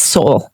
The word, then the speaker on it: Seoul: Seoul pronunciation. I know I'm saying it wrong. It's Seoul.